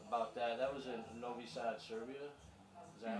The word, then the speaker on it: Novi Sad: That was in Novi Sad, Serbia. Is that right? Did I pronounce Yeah, that?